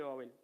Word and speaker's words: Babel: Babilonia, que significa en idioma acadio, puertas del cielo, que significa en idioma hebreo, confusión, y que en realidad en idioma hebreo se pronuncia Babel, pero Babilonia es porque está en idioma griego, que es como se conoce a esta ciudad.